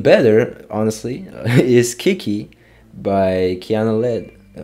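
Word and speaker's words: Kiana Ledé: But even better, honestly, is Kiki by Kiana Lede, I think that's the proper way to say it.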